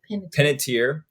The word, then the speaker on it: Panettiere: Panettiere.